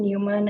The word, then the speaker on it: Neumann: So how about I go on mute and I would just like to confirm the pronunciation of both your names. sure. So Kerstin Neumann, Yeah, that would be Neumann, okay.